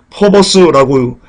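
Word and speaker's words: φόβος: 두렵고 퍼버스라고 발음합니다.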